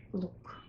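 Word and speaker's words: лук: But we pronounce them exactly the same at the end of the word. Both words sound identical as look.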